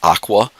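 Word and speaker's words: OCWA: in central New York is referred to as Aqua, Onondaga County Water Authority, and which, ironically enough, rhymes with agua, which is the Spanish for water. And water, which is subsidized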